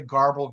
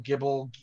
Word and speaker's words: GRBL: of the design so some people say garbled herbal gibble you know you yeah it's